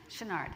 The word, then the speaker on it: Chouinard: Chouinard? Chenard.